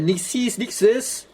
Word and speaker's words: Nixxes: Okay, they pronounce it Nixxes.